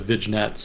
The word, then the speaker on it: vignettes: effect a series of vignettes about China and its economy, society, and politics. Vignettes. Vignettes. The G is silent.